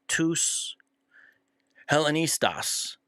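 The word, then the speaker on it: τοὺς Ἑλληνιστάς: So he says, which witnesses have the word Hellenist, and then which is tous Hellenistas. That's how you say it in Greek, the Hellenist.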